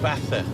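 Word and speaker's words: Baza: we're on our way now we're going to bathur it's b.a.z.a but it's pronounced bath batter with us because a friend of mine has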